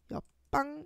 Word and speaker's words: 옆방: 2번과 마찬가지로 음끝규에 의해서 비읍이 먼저 일단 들어오고요. 비읍으로 먼저 바뀌어요. 옆방 이렇게 비읍하고 비읍이 만나면은 뒤에 있는 비읍이 된 소리 되기, 쌍 비읍이 되는 된소리 되기가 일어납니다. 그래서 결과적으로 옆방 이렇게 발음을 해야 돼요.